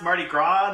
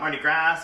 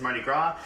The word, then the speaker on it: Mardi Gras: awesome like that um first off is pronounced mardi gras not mardi gras or grass or however heck out to try to pronounce it is mardi gras it's from new orleans